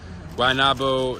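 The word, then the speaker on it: Guaynabo: fitness and how do you say the sound guanabo best planet fitness in puerto rico at least that i've been to wai nabo is what a rich town or yeah i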